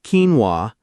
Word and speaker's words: quinoa: Pronounced quinoa.